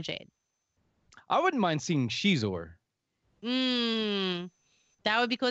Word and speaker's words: Xizor: I wouldn't mind seeing Xizor. That would be cool. Is that how you pronounce Zixor? Yeah, Xizor. Yeah, Xizor. Okay.